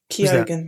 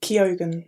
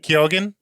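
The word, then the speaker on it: Keoghan: Kyogan. Uh he what is it? Kogan. Kyogan.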